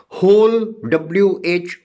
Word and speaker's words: whole: And if I say who, WHO, W is silent. Whose, then whom, WHOM, whom. Whole, WHOLE, whole.